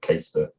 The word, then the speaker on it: Caistor: the place name, but it's spelled Caistor. I say like Caister, but it could be something like Carlston, knowing English place name.